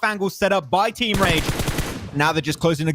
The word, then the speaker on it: Rage: Rage, I was like, there's two R's, so I'm going to say it like the Spanish way, Rage. But no, that's not how he goes, RH. So I have to get used to that one. It's not a Spanish team after all.